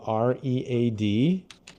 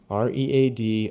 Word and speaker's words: read: So it's spelled re a d r e a d r e a d r e a d